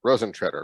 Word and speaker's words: Rosentreter: name at the distillery too so if you pronounce my last name uh you're not the only one um this is frozen shredder frozen treader right yes got it right um if you